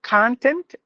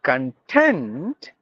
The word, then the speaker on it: content: important thing but if you say content giving the stress for the second syllable there are two syllables if you give the stress in the beginning it's noun meaning stuff matter material or the most important thing but if you stress the second part it turns out to be a